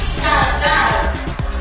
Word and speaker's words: cantar: También tenemos la palabra cantar. ¿Cuál es la sílaba que se pronuncia con menor prominencia de voz? Cantar. Entonces la sílaba átona es ca.